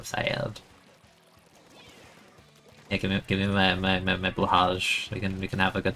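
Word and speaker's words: Blåhaj: How do you pronounce the J? Is it, like, silent? Is it, like, bloha? Like, how does the J work there? I have no ink. Why did I do that? You pronounce the J blahaj? So that's, like, I don't know if that's, like, the right way. It's soft shit, blahaj.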